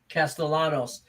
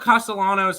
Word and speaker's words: Castellanos: Castellanos on the mound for the Arizona Diamondbacks.